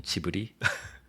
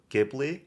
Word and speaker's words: Ghibli: To in Korean pronunciation, Chibi or this is more the accurate pronunciation I think. Not chibi. I think Americans pronounce it gibli. Gibli. Yeah. Yeah. Or jibli. Yeah. It's a famous great debate.